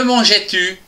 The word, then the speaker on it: mangeais: Attention à la phonétique, GE se prononce J.